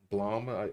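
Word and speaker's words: BLAME!: Like one of my favorite mangas, Blame or Blom, as it's pronounced.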